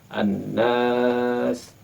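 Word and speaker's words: الناس: Di sana hendaknya dijaga pelafalan berharakah panjang. Setidaknya kita menjaga dengan 4 harakah. Kita bisa menghitungnya dengan tangan. An-Nas.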